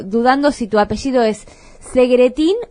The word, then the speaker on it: Segretín: si tu apellido es Segretín o Segretin. Ni yo sé pronunciarlo, pero es Segretín. En el idioma original no lo puedo pronunciar, pero acá es Segretín.